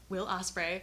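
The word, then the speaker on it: Will Ospreay: was the will Osprey not Matt Osprey will Osprey had the match with kosida I keep I keep getting his first name wrong it's will will Osprey will Osprey uh had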